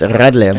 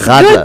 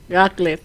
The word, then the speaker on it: Radler: Rattler. I'm gonna. It's just hard. It's hard to do. It's in the throat. It's in the back of the throat.